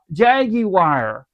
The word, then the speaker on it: Jaguar: call it Jag Jaguar, Jaguar, whatever you want to prefer it. It doesn't bother me. I butcher the name many years. I say Jaguar over UK they're saying Jag Jaggy wire.